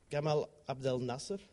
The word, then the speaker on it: Gamal Abdel Nasser: And it was only after Gamal Abdel Nasser, I say it right?